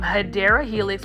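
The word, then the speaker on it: Hedera helix: we do have a hedra helix this um hyera Helix which is the correct way to say English ivy um is for $9.99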